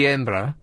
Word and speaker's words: Edinburgh: Duke of Edinburgh Awards the way they pronounce it up there is the chuki embra so the chuki embra